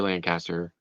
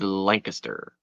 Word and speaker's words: Lancaster: like Lancaster and a lot of people say Lancaster the proper Pennsylvania pronunciation is Lancaster Lancaster Lancaster I just don't I just don't